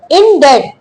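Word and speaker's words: indebted: इनडेड अगली वोकैबलरी है इनडेड। इसमें बी का साउंड हमारे पास साइलेंट होता है।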